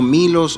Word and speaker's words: M1LOS: Sí, lo pueden buscar en el canal de YouTube, salimos como Milos Oficial, solamente que Milos se escribe M1LOS, ahí están en todas